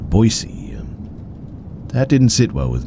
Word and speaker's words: Boise: What threw me off was his mispronunciation of his supposed hometown's name. Though he called it Boy's E and not Boisey, that didn't sit well with me.